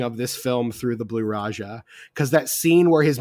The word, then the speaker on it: Blue Raja: But like the bowler and the blue raja and like you said it wrong. It's the blue raja.